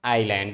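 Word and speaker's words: island: हैं कॉन्टिनेंट और उसको आईलैंड इसमें यस साइलेंट रहता है अंग्रेजी में देखेंगे बड़का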